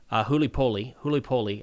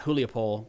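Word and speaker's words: Гуляйполе: further west here to Gulyaipole. I got some guidance on how to say that this week, and I feel like I'm still going to say it wrong. Not Gulyaipole, but Gulyaipole.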